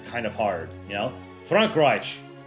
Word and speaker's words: Frankreich: Frankreich. There's a very subtle, like, sh sound at the end. That's also, it's like a sh and a ch.